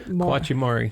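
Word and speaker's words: Kwanchai Moriya: Kawachi Mori. Thank you. I cannot pronounce his name.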